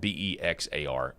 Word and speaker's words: Bexar: He caught them red-handed in Bexar County, Texas, spelled B-E-X-A-R, pronounced Bexar County, Texas.